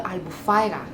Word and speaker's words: Albufeira: going to go to albufeira or albufyra like they pronounce it we are going there